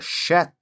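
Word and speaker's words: שֵׁת: Em hebraico, esse nome que na verdade se pronuncia shet significa compensação ou substituição.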